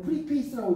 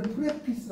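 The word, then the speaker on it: preface: 원래는 페이스가 얼굴이고 풀리잖아요 프리 페이스라고 읽으면 안 돼 이때는 프레피스 읽어 프레피스 읽어야 되는데 이게 패스고 이게 풀리니까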